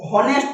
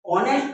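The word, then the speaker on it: honest: इसे ऑनेस्ट नहीं पढ़ेंगे। ऑनेस्ट पढ़ेंगे।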